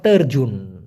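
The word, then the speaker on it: terjun: উপর থেকে ঝাঁপিয়ে পড়া ওটাকে বলা হয় তেরজুন তেরুন অনেকটা অর্জুনের মত শোনা যায় এটা হলো তরজুন মানে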